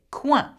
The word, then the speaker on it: coin: The next one is not pronounced coin. In French, we say coin.